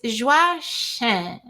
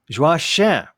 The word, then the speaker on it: Joachim: It's super close. It's Joachim. Joachim. Uh-huh. And the Joachim with the nasal French Haitian Yes. Creole sound. Yes. Joachim. Joachim. Perfect. Joachim.